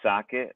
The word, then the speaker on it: Sochet: it's all that socket my name is spelled differently than it pronounced its last name is